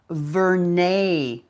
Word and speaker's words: Vernay: I have been pronouncing the actress's name incorrectly. Vernay is her name. Oh. Vernay.